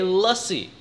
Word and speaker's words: lassi: It is not difficult to say lussie. And that's lussie and as in duh, in case you or someone you know are still having trouble remembering how to pronounce it.